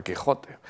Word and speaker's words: Quijote: de los topónimos y nombres como Quijote o que o México lo han mantenido pero se pronuncian México y se pronuncia Texas no y se pronuncia Quijote bien pues el tema